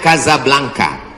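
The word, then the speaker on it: Casablanca: ke mesjid Hasan dua Kasablanka ibukota Maroko tempat saya kuliah nama negaranya Maroko ibukotanya tulisannya Caca blancha cara bacanya Kadzab langka Kaza artinya rumah Blanca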